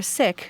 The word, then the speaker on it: Sikh: He's a Sikh, or Sikh as it's sometimes pronounced, from the Indian state of Punjab.